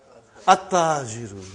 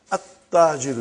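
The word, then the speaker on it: التَّاجِرُ: At-tajiru. You did not pronounce al. You did not pronounce lam. Okay, you did not pronounce. You skipped it. Okay. At-tajiru.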